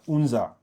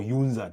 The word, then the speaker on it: UNZA: We know that uh UNZA or UUNZA, depending on on on on how you want to pronounce it, um has been our pride and joy as a country.